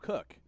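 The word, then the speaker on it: Koch: And we see the unknown quantity there, and Jacob Cook, spelled K-O-C-H. I'm sure he's actually going to be excited because a lot of people are going to be able to pronounce his name correctly after this, or they'll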